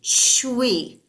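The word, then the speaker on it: chui: And then the last one is for kidneys, and it's pronounced like CHWEE, shui, shui, shui.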